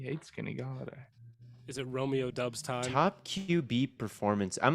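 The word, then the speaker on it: Doubs: went at the 11-5 it's pronounced romeo dobbs no it's dubs it's romeo dubs is it romeo or romeo it's romeo dobbs romeo dobbs romeo doff brian edwards obvious at 11 10.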